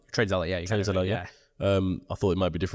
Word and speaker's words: TradeZella: Correct me if my pronunciation's wrong, but TradeZilla. TradeZilla, yeah.